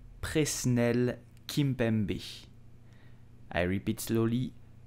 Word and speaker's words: Presnel Kimpembe: So, how do you pronounce his name? You will say Presnel Kimpembe. Presnel Kimpembe. I repeat slowly. Presnel Kimpembe.